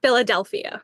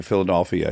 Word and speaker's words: Philadelphia: do you say it Philadelphia can't even hear no I don't even know I'm saying Philadelphia you make it an O instead of an e okay Philadelphia yeah yeah for sure